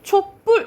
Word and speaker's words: 촛불: 촛불. 그렇지. 촛불 이렇게 발음 나지. 뒤에 된 소리가 나죠.